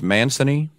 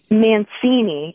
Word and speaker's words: Mancini: Now, your last name is pronounced Mancini. Mancini, which is my married name.